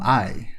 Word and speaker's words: AI: Konami Date uh from I the Somnium Files. A new entry in the I the Samium File series. Not AI even though that's how it looks like it's spelled.